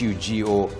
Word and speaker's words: Hugo: So, uh, H U G O in Timoe is pronounced as Ugo.